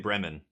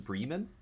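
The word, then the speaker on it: Bremen: up is it Breeman in German with like German pronunciation Breeman oh didn't know that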